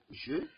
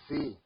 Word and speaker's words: je: We have je. As I'm saying, be repeating with me. Je. It's not ze or j. Like English used to pronounce j. It's not j. Je.